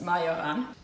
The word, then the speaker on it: Majoran: This is, we think it's called marjoram in English. In German it's majoran.